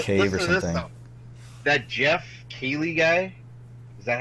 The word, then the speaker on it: Keighley: That Jeff Keighley guy, is that how you say his name? Yeah, Dorito Pope. So, well, yeah. Jeff Keighley.